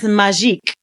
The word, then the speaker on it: magik: And he says magique. Now, anywhere else in the book, magic is spelled like what we know magic. Right. But in the book, it's spelled MAGIK.